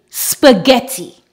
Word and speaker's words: spaghetti: When GH is at the beginning of a word or at the beginning of a stressed syllable, it is always pronounced G.